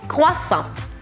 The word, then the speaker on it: croissant: Croissant, ni puedo hacerlo con su acento, pero es un croissant. Croissant. Así que la T no la pronunciamos, A-N hace el sonido en y O-I hace el sonido wa, así que croissant, croissant.